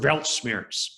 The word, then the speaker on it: Weltschmerz: Somebody said, please spell that word Weltschmerz.